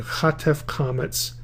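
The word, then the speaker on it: chatef kamatz: have another compound shva, you have the chatef comets, that is a short O sound.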